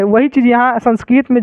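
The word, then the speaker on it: संस्कृतम्: जैसे इसको पढ़ेंगे तो क्या होगा, इसको संस्कृत, संस्कृतम, संस्कृतम, तो इसको हम क्या लिखेंगे, इसको लिखेंगे संस्कृतम, ऐसे हम लिख सकते हैं इसको, ठीक है। लास्ट में इसका उच्चारण क्या आ गया, म आ गया, ठीक है ना, समझ गए।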